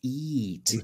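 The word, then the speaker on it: E-E-A-T: I believe the proper pronunciation is EAT.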